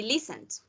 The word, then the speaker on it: listened: So, Tatiana, when in the last consonant, you feel that vibration, you pronounce D. So that's why you say listened, okay?